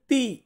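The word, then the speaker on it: ti: তারপর আছে টি, এটাকে আমরা ইংরেজিতে বা বাংলাদেশে আমরা বলে থাকি এটাকে টি, কিন্তু এটার সঠিক উচ্চারণ আমরা ইতালিয়ান বর্ণমালাতে করব তি, তি।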